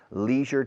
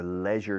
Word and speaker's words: leisure: a few minutes about leisure time or leisure time depending if you're british or american canadian camera one please okay leisure it's good in america and canada leisure in the united kingdom and ireland in australia new zealand i don't know probably leisure the aussies and the kiwis kiwis usually use the